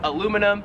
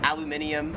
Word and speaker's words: aluminium: and whatnot aluminum foil we would call it in america aluminum right here in australia it is aluminium that one's a big